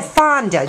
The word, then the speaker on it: Fonda: you pronounce that name fonda fonda f like oh fonda just like hank fonda okay how long have